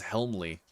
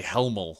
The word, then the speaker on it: Helmley: My last name is Helmley, which but it's spelled like helm of a ship, L-E after that. So people say Helmel a lot, and I fucking hate Helmel. Oh my God.